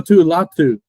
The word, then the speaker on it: Latu: you know I gotta go with LA Lau latu all right I say it right yeah you